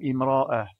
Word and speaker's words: امرأة: Concernant sa prononciation, il y a deux possibilités. Si le mot est en début de phrase ou après une pause dans une phrase, il faut prononcer une voyelle à cet endroit, car en arabe littéraire, on ne peut pas commencer une phrase ou une portion de phrase après une pause sans commencer par une voyelle ou une lettre associée à une voyelle.